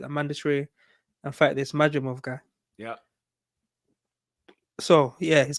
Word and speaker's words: Madrimov: I mean, I did watch how you pronounce brother's name? Mac, I just don't be wanting Majimov. to Madrimov.